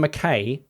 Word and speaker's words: McKay: McKay is pronounced like tie, lie, guy, buy, etc.